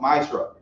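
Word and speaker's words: מעשר: Means 10 in the Hebrew, and it's pronounced Maishra.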